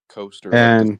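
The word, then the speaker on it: Koster: k s t r k o s t e r coaster like the drink okay okay and then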